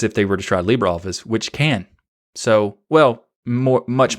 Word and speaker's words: LibreOffice: pronounced libra and the libra office application is pronounced libreoffice for the english term and there's also many